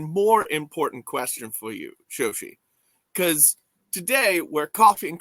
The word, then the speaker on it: Shoshi: You might have to pronounce it Zoshi, but I'm fine with that. I'm gonna pronounce it Shoshi.